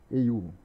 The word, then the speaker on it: UI: Esse pacote aqui, ui, iu, né? Eiu. Assim que pronuncia, né?